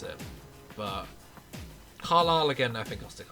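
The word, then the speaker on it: Carlisle: And then as for Carlilele, I always used to pronounce it Carisley cuz I generally had no idea how to pronounce it. But Caral again, I think I'll stick on Marginal.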